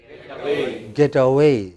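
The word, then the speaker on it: getaway: what should it be get away you know the stress is on way get away next sentence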